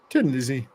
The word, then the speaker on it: Thin Lizzy: a sense you know they turned tin into thin but they would still pronounce it Tin Tin Lizzy so um I must